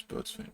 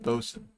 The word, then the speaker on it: boatswain: This is boatswain, right? Helmsman. What is a boatswain? Fun fact, boatswain is pronounced bosun.